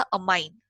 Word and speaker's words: ammine: करेंगे कॉम्प्लेक्सेस में, तो अमोनिया का हो जाएगा अमाइन, AMMINE, इसलिए बोल रही हूँ स्पेलिंग इंपॉर्टेंट है, AMMINE.